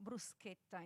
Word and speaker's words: bruschetta: we'll see this later so brusqueta is the right pronunciation of bruschetta as we can often